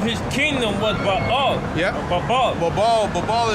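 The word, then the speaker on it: Babel: Babal is like, okay, when I babble, because that's how you say it in Hebrew, right?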